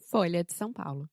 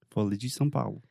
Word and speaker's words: Folha de São Paulo: em português, porque, primeiramente, você tem a palavra folia, que tem o som de LH, que é difícil pros gringos, pelo menos é difícil para mim. Também em São Paulo você tem uma vogal nasal são Então se você está querendo treinar a sua pronúncia, fala isso, tipo mil vezes.